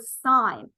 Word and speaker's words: sine: actually understand the material s-i-n is an abbreviation for the word sign it is actually spelled